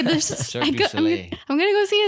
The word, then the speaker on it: Cirque du Soleil: Well, how is it pronounced? Cirque du Soleil.